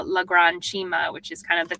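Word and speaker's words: Cima: how that one's made sure um so we pronounce it Chima which um is an Italian word for kind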